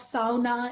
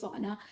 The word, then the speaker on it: sauna: hearing what all that the pronunciation of sauna is the right one and not the sauna we'll keep that in